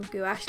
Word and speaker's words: gouache: gouache layers on top I know people say gouache and I think that's the proper way to say it by the way but I've grown up saying gouash because that's what one of my teachers said so I'm just gonna say